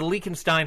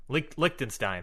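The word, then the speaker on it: Liechtenstein: with Lucas Von goop he's le le the lakstein head I don't know if I'm pronouncing that country right linin lickstein thank you the he's the lickstein heavyweight champion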